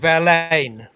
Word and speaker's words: Verlaine: english um it's uh rain rhymes with verlaine and there's a slight